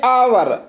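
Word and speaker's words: hour: का मतलब उत्तराधिकारी ऐसे आवर ये जो यहां पर एच है वो क्या है साइलेंट है तो यहां पर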